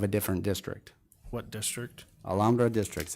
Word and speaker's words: Alhambra: Alhambra District. It's in your packet. Alhambra? Alhambra.